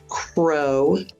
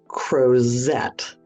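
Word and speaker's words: Crozet: out and this is how he put it Crow not cette so it looks like and it is spelled c r o z t many people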